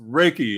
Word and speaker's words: Reiki: Pronounced Reiki. Oh yeah, yeah. I know Reiki.